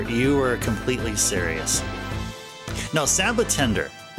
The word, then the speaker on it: Sabotender: Sabotender. That That's how it's pronounced in Japanese. Sa sabotenda. Sabotenda.